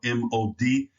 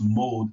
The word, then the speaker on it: mod: And you'll notice that in the word that means past for the past tense is spelled M-O-D, and that's not pronounced mode, it's pronounced mod.